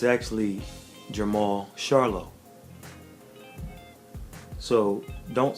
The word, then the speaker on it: Charlo: name it's actually Jamal Charla so don't say it like charcoal like the stuff you uh when you have a cookout the charcoal say it like Charlotte like the city in North Carolina so it's Jamal char